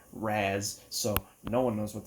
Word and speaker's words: Ra's: He also created a few characters, such as the guy that everyone pronounces as Raz or Raish, but actually it's Raz, so no one knows what the hell they're talking about.